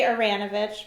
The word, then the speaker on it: Aranovitch: It's close enough. We say Aranovitch, but yeah, it's fine.